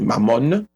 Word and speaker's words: mammon: Alors, prononciation, c'est mammon.